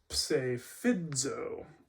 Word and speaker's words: psephidzo: But we have psephidzo, and because the diacritic, the stress mark is here, the accent, you know that this is the emphasized syllable. So psephidzo is the way you pronounce it.